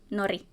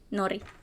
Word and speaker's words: Nori: his name is Norway Nori almost said it wrong Nori uh like seaweed he is three years